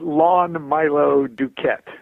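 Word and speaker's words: Lon Milo DuQuette: right well I like to hear it said lawn Milo Duquette you can't yeah okay lawn Milo do cadets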